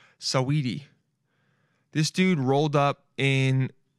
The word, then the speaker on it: Saweetie: Saweetie? That's how you say it. Saweetie.